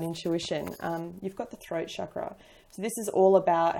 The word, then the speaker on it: chakra: We have throat chakra, or chakra if you pronounce it correctly.